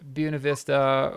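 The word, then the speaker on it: Buena Vista: is this absolutely um so if you hear us say buav Vista we're not mispronouncing it intentionally um it's how the locals want it to be said even though we agree that it's wrong we we all agree it's wrong uh so fun fact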